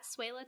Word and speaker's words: Swehla: And you can find me on Twitter and Letterboxd at Suela. Suela is spelled SWEHLA.